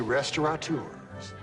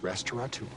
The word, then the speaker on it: restaurateur: I we're gonna be restaurant tours people think it's Restaurant tours but in the dictionary it's it's pronounced restaurateur see this is fantastic